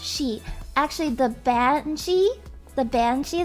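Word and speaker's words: sidhe: the the she it's spelled s-a-s-i-d-h-e but it's pronounced she actually the banshee the banshee that everybody in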